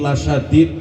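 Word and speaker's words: لَشَدِيد: Ini la syadid pakai lam taukid jangan dipanjangkan bacanya Bu ya. Kalau ngaji tadarusan, jangan dipanjangkan lamnya. Kadang ada yang dipanjangkan. Inna adzabi la syadid. Kalau lamnya panjang artinya tidak pedih. Kalau lamnya pendek, lam taukid penguat, berarti benar-benar pedih.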